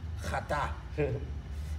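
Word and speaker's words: חטא: It's pronounced chata.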